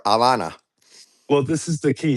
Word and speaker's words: Havana: Either way, this is the point is that Yeah, but I'm from Cuba, and there's no and the H is silent for Havana.